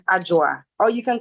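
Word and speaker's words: Adwoa: it's a j-u-a so even though it spells a-d-w-o-a you pronounce it with a J so it's ajoa or you can call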